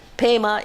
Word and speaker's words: Pema: Pema is the Tibetan pronunciation of Padma.